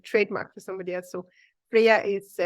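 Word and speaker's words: Freja: obviously a registered trademark for somebody else so Freya is pronounced with a why but it's still with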